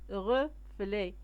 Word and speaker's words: reflets: Et en se penchant, وعند انحنائهم, عندما انحنوا, ils virent, رأوا des reflets, des reflets هما انعكاسات, reflets تيو اس ما كنطقوهمش, d'arc-en-ciel.